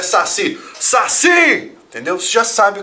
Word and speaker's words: saci: tenha última sílaba tônica por exemplo fubá ou Saci daqui ó fiz a última sílaba tônica não fala fubá não Fala saci é fubá Saci Então você conta sempre